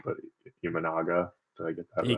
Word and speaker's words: Imanaga: I guess you don't necessarily know what you're getting from, and forgive me if I pronounce his name wrong, but Imanaga.